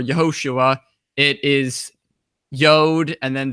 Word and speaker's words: Yeshua: And that word Jesus comes from a Hebrew word, and the Hebrew word is spelled it sounds like Yeshua or Yehoshua.